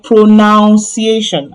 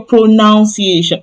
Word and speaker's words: pronunciation: it's time for your pronuniation." I hear that a lot. You hear people say, "It's time for your pronunciation." No, no, no, no, no. It is not now. It is none. None. Pronuniation.